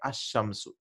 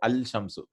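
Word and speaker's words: الشمس: For example, how do you pronounce this? We say Ash-Shamsu, right? Ash-Shamsu. We won't say Al-Shamsu.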